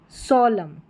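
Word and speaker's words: solemn: Autumn कॉलम हिम यहां पर है कंडम सोलम। सोलम यहां पर एन जो है वो साइलेंट है। एन का उच्चारण न नहीं हो रहा है।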